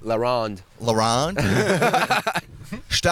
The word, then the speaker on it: La Ronde: I was at La Ronde, and Say it right, La Ronde.